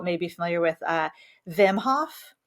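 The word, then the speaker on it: Wim Hof: be familiar with uh vimhof I believe it's pronounced Vim I don't think it's whim off I think it's a bimhof but he's um Dutch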